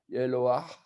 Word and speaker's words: Eloah: Alors, il y a aussi le He avec un patar qui est à la fin, donc qu'on devrait normalement prononcer Eloah. On devrait entendre le ah, ah.